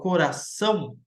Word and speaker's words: coração: Claro que quando eu falo coração, você vê que o mais forte é o são.